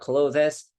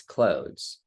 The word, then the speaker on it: clothes: to mispronounce such as the word clothes clothes right it's not Clovis it's clothes okay and you don't say